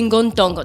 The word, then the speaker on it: Ngontang: Il fut très vite remplacé par un nouveau type de masque appelé Ngontang. Donc, Ngontang. Ngontang. Hein? Ngontang. Ngontang. On ne prononce pas le G à la fin.